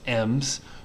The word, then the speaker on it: em: are things like m's these are pronounced m's rems okay um so an m and e m pronounced like the letter m an m is the